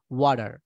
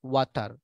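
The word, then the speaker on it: water: আমেরিকানরা বলবে ওয়াডার, ওকে, ওরা টি সাউন্ডকে ডি সাউন্ড করবে।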